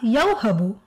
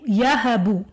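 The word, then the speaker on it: يَهَبُ: It's unnecessary for them, so it, because it takes away the smoothness, so they don't pronounce it, they just say yahabu.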